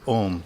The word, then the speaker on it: Om: It's the Ah sound, Ah. And sometimes it's called Om. That sound that actually comes through is written and pronounced as Om.